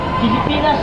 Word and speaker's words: Pilipinas: Pilipinas tulad ng Turo mo tagisan kita silya Pilipinas ang tamang bigkas pelly fy pelly hahagisan talaka kita na